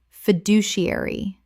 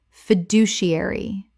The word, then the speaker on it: fiduciary: Common mispronunciation. Fiduciary. Correct pronunciation. Fiduciary. 6 syllables with the stress on the second.